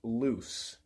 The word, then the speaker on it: luz: L-U-Z is the Spanish word for light, but they're both pronounced loose.